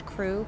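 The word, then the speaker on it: Krewe: Um and the name of the business is Lash Crew. Crew is spelled K R E W E.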